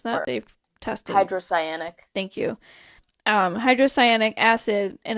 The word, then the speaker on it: hydrocyanic: How do you pronounce that? Or They've tested. hydrocyanic.